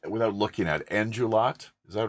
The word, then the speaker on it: Endrulat: It's without looking at Endrulat. Is that right? Is that how you Yep.